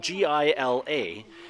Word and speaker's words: Gila: or a Gila monster it's spelled GI LA and in here in in Phoenix Arizona GI LA is pronounced Gila because there's the Gila River and it makes sense that it would be the Gila monster so I'm pretty sure